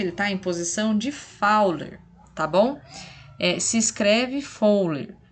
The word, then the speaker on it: Fowler: gente disse que ele está em posição de fowler tá bom se escreve fully mas a gente lê fauna tá